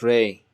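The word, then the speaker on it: راء: If there are any Spanish speakers here, then it's like a ray, it's that in Spanish. So Ra.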